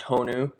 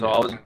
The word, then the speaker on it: Honu: So it's pronounced Honu, and Honu means sea turtle in Hawaiian. And so Honu.